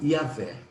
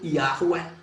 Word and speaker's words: Yahweh: Então, a pronúncia ficou Yahvé. Não pode ser Yahweh, porque o V, o W, não é a letra inglesa que tem som de U. É a letra hebraica que tem som de V.